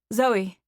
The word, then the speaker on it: Zoe: Etheridge he said finally Zoe I said it's spelled z-o-e like so but you say it like it has a y on the end I look forward to